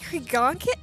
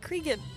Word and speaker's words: Creon: last of it wait it's called Creon I've always thought it said crean I've been saying it wrong two whole playthroughs I